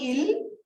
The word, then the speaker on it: ils: teach you right now it's called ill pronunciation will be in ILS okay don't say is in French last consonants you don't read usually until unless they are followed by okay so ill song